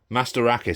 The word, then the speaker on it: Mastorakis: Hired to Kill by Nico Mastorakis. Mastorakis, sorry. I said his name wrong last time.